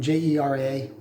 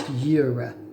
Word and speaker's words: Jera: So rosemary is associated with the 12th rune, and that rune is Jera, spelled Jera, but pronounced Jera.